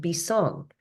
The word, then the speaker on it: Bisong: it's b i s o n so it's pronounced bong and Taio is t a i wo so